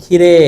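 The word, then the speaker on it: きれい: এবং ইউমে শব্দটাকে জাপানিজ যখন কথা বলে তখন ষিরেই না বলে বলে ষিরে ষিরে ইমে ইমে এই যে মে এর পরে ই না বলে এ বলে যদি উচ্চারণে যেহেতু এ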